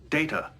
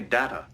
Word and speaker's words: Data: My name. It is pronounced Data. Oh? You called me Data.